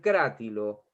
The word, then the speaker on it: Crátilo: las cosas como dice el griego en el crá tilo es verdad por esas cuestiones que tienen la restitución de la de la pronunciación de las lenguas muertas en la época